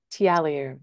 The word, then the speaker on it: Tiliou: last name for me so that I can pronounce it correctly in the future tiu that's amazing I think I I have a